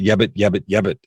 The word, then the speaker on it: yabbit: I use that yabbit, and I spell it Y-A-B-U-T, yabbit, kind of like wabbit, yabbit.